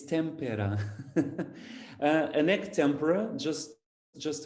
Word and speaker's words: tempera: from eloise egg tempera so it's not tempura it's tempera an egg tempra just